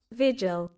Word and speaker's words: vigil: So a visual, is it visual? It's visual, innit? I'm pronouncing that right. God damn it. Got me pronouncing things wrong. What do you say? Vigil. Vigil, that's it, people.